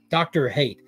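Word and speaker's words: Dr. Hate: it's called like doctor it rhymes with Dr Fate holy crap Dr hate Dr hate is supposed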